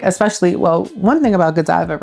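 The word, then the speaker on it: Godiva: business, but if I'm not mistaken, how you pronounce it, Giva. Gdiva.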